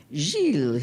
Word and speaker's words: Gilles: Gilles, he pronounced correctly with the soft G, yo te lo corto.